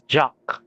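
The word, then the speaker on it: Jacques: of jacqu oh so the pronunciation is jock I can understand the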